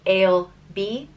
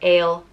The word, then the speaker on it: Ailbe: The next name is Ailbe, and it means white hawk or intelligent or noble, and it's pronounced Ailbe or Ailbe.